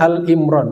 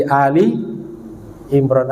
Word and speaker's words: Ali Imran: Seperti di Al-Quran ada namanya surat Ali Imran, keluarga Imran. Masih sering kita dengar ada yang salah baca Al-Imran, seperti disebut Al-Baqarah, Al-Fatihah. Bukan Al-Imran, tapi Ali Imran, artinya keluarga Imran.